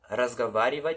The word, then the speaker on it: разговаривать: Aqui tem um O, mas ele tem um som de A, tá? Então aqui está escrito разговаривать, só que a gente pronuncia разговаривать, como se esse O aqui fosse um A.